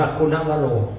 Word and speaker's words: คุณวโร: คุณวโร เมื่อ ได้ กล่า อ่าน ว่า คุณวโร คุณวโร คุณวโร เมื่อ ได้ กราบ และ